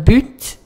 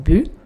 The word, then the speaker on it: but: And you've noticed that I pronounce the T. So, this depends on accent. Some people will say un but. Some people will say un but. Which accent is what? I think it's common to have the T pronounced on this one.